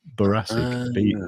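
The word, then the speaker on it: boracic: It's actually baracic. B o r r r r r r r r r r r r r r r r r r r r r i b bar. Can't spell it now. But anyway, however you spell baric I don't know what borassic lint is, but it's baracic lint.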